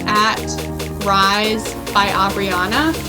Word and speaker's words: Abrianna: It's at Rise by Abrianna. It's spelled RYZE by BY.